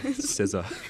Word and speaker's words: SZA: SZA. SZA. Oh, the SZA. I didn't know that Yeah. was how you say it. SZA.